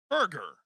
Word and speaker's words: Berger: 20 with daniel berger how do you say it berger or burger burger i've never heard berger not one time daniel berger plus 140